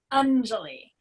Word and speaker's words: Anjali: won't revisit it um it's pronounced angely likely um undulate so the a sound is a u like under and then the emphasis is on the first syllable like in many indians